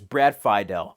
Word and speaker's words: Fidel: Phi del score yeah I've been pronouncing it Brad Fidel but it's Brad Fidel I love the music